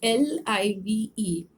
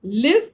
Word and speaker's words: live: in this session is LIVE. And if it is if it rhymes with give, that is, it is pronounced as live, then it means to have life.